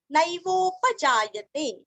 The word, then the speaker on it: नैवोपजायते: नैवोपजायते, न दो मात्रा का उच्चारण ध्यान से करना, नैवोपजायते न वासुदेव भक्तानामशुभं